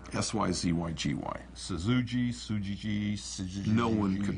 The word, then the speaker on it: Syzygy: We originally named the company Syzygy, S-Y-Z-Y-G-Y. Syzygy. No one could pronounce it.